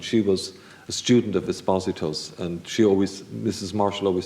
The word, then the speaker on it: Esposito: mean, Rona Marshall and others, it was always Esposito.